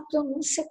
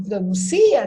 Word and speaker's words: pronúncia: Então, se eu tirar o acento, vai ficar pronuncia. Olha aí, existe também. Então, tem que tomar cuidado, porque eu posso estar escrevendo uma outra coisa. Então, vamos ver para que serve a língua escrita. Necessita, na prática, de certos sinais auxiliares para indicar a pronúncia correta das palavras. Então, se pronúncia e não pronuncia, tem que ter acento.